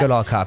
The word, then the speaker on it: Goodall Cup: How do you pronounce that? Goodall Cup, So yeah.